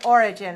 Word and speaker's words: origin: If you say the noun origin, that's stressed on the first syllable.